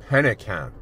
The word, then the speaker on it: Pennekamp: How am I pronouncing this? Coral State Reef Park? Alright. Pennekamp.